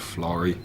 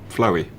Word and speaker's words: Florrie: I heard all the stories, you know, about the ghost called Florrie, but I kept on getting her name wrong one night. I kept on calling her Floey.